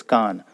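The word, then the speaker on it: कान: The original word is Karn. Since it is Ra and Na joined together, we have made it more simpler in Konkani, and it is pronounced as Kan.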